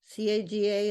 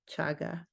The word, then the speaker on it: chaga: Gregory who said that chaga caga is pronounced chaga so I want to